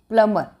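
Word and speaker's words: plumber: प्लम्बर, नॉट प्लम्बर, प्लम्बर नहीं कहेंगे, ठीक है। We called the प्लम्बर, okay. इसमें बी का प्रोनाउंसिएशन नहीं है, प्लम्बर।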